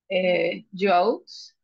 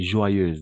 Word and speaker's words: joyeuse: Au niveau de la prononciation, O plus Y, on va toujours prononcer comme un oie.